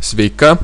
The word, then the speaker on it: sveika: Надо обратить внимание на то, что нужно, что ударение в конце слова свейка, свейки в этих двух словах.